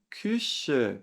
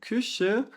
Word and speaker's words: Küche: Cuidado aqui, atenção para a pronúncia aqui do U, que é o U com trema, né? A gente faz a boca do U e pronuncia algo como se fosse o I, né? Mas não é I.